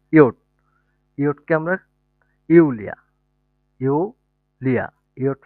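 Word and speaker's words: Jot: তারপর হচ্ছে জে, জের প্রোনাউন্সিয়েশন হচ্ছে ইয়ট, ইয়টকে আমরা ইউলিয়া, ইউলিয়া, ইয়ট ফর ইউলিয়া, ইউলিয়া হচ্ছে একটা নাম।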